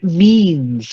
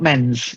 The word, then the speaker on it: means: Then means, not men's. It's an E again. Means.